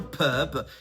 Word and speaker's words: pub: Attention, ce mot se prononce différemment en fonction du genre un pup, c'est un bar et une pub c'est une publicité.